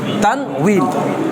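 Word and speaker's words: تنوين: এক্ষেত্রে অনেকে এটাকে তানবিন লেখে, আসলে উচ্চারণটা হবে বাংলিশ লিখলে সুন্দর হয়। এই তানউইন, তানউইন, তানউইন।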